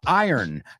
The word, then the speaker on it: iron: It's not iron. It's, ¿cómo se dice yo gano? I earn this amount of money. Iron. ¿Ves? Es raro porque es como si la R y la O le das la vuelta.